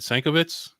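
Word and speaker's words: Sienkiewicz: Sankiewicz?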